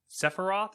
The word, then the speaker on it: Sephiroth: Ultimate is getting Sephiroth. Is that how you pronounce that?